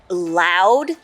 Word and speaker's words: loud: need you to I have a headache so lwd what are you talking about sh quiet please you're talking way too lwd quiet loud loud looks like we need to work on